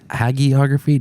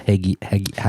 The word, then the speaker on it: hagiography: How do we pronounce that word? Because Reagan? hagiography. I don't know. Hagiography.